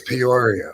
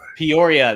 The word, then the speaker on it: Peoria: I think you seem to take a syllable out of it when you say it. Yeah, I think I did. I got mush mouth with it. I think it's Peoria. Peoria.